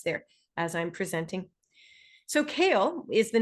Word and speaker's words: CAEL: know I'm sure but the reason we spell it this way is because the four letters that make up the word kale are actually an acronym.